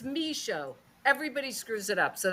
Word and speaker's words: Michaud: So can you pronounce your last name again for us? Yeah, it's Michaud.